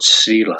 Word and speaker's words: Srílai: Yeah, this word Srílai. Strílaich. That was a really strange word when I first came across it, and I honestly thought it was pronounced like Shirley, and I got ripped for it for pronouncing it like Shirley.